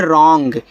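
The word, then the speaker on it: wrong: चलिए आगे देखते हैं यहां पे डब्ल्यू आर ओ एन जी तो इसको पढ़ते हैं रॉन्ग। तो यहां भी डब्ल्यू के बाद आर है तो डब्ल्यू आपका साइलेंट रहेगा।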